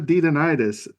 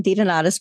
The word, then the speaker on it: DeDonitis: And I hope I pronounced your last name right. It's been a minute since I had to say it. Pretty close. It's a hard one, DeDonitis, but you did a great job.